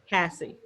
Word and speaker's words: Cassie: Casey. That's Cassie. Cassie or Casey? Am I saying it wrong? Is it Cassie or Casey? Hello. Cassie.